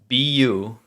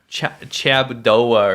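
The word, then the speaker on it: 差不多: people say Chabudor wrong. Can we teach everyone how to spell it? Sure. Chabuduo. Yeah. I'm going to write it down. Cha. If I see someone say Chabudoa or something again, I'm going to lose it.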